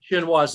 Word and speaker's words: chinois: chinoise is pronounced.